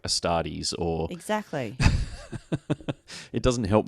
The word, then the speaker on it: Astartes: because i was like how on earth are you pronouncing astartes with an ex what's he saying ex-studies what are you talking